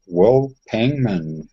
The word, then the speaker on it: Pangman: I have Will Pangman. Is that how you pronounce that, Will? Yeah, that's correct.